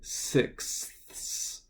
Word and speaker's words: sixth: But sixth is good to pronounce because if you're using any month and you say it's the sixth, you want to get that TH at the end.